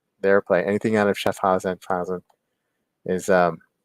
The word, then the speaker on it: Schaffhausen: They're out of Schaffhausen, Schaffenheisen, Switzerland, the German speaking part of Switzerland. So that's part that they're in play. They're play. Anything out of Schaffhausen is it's gonna be part of the German